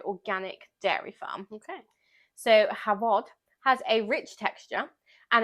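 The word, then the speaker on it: Hafod: cheese is the cheddar so so ah it's pronounced havod oh thank you not have fun anyway so it's an unpasteurized cheddar made by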